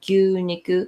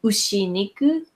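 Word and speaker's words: 牛肉: So gyu niku, we don't say ushi niku. It's possible people understand ushi niku, but we change the pronunciation to gyu niku.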